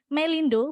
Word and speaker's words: Melindo: Kemudian ada dua lagi ejaan yang tidak saya tuliskan di sini karena memang tidak diresmikan yaitu ejaan Melindo bukan Melinda ya Melindo.